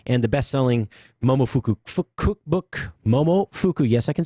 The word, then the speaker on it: Momofuku: It was really popular among the trendy East Village food scene, and the best-selling Momofuku cookbook, Momofuku, yes, I can say it right, cookbook, followed quickly.